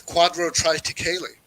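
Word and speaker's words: quadrotriticale: what cricket feeling is and everyone's like it's quadro try to kaylee you don't know that everybody will just try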